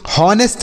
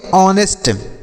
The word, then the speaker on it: honest: जैसे HONEST तो इसे हम हॉनेस्ट नहीं पढ़ेंगे। क्या सर? हॉनेस्ट नहीं पढ़ा जाएगा, गलत उच्चारण होगा। इसे हॉनेस्ट बिल्कुल नहीं पढ़ेंगे। तो क्या पढ़ेंगे सर? तो इसे हम पढ़ेंगे ऑनेस्ट।